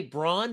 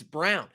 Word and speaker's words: Christian Braun: You're going to want to say Braun because that's how it's spelled, but it's Brown. And if you don't trust me, just trust the chat during any of my live streams when I do say Braun by accident.